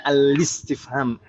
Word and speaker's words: al-istifham: Saya bacanya al-istifham, bukan al-istifham, tapi al-istifham. Kenapa Ibu saya bacanya gitu? Hamzah wasal. Karena hamzah ini adalah hamzah wasal.